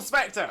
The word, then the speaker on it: Spector: but but uh uncle spector uncle spector that is going to be your name from now most exit rhymes with uncle fester but uncle spector uncle